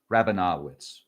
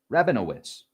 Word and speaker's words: Rabinowitz: 2003 VB12 discovered by Michael Brown, Chad Truilo, and David Rabinawitz. Rabinowitz, Rabinowitz, I apologize that I got your name wrong.